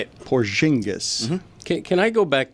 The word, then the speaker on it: Porzingis: How did you pronounce Kristoff's name? He said Porzingis. Yeah, that's how you say it. Porzingis.